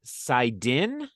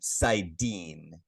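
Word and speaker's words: saidin: If I have this right, it is the Sidin, and the Uh, female side is Sidar. Sidar is correct. Just Okay. pronunciation, Sidine. Sidine.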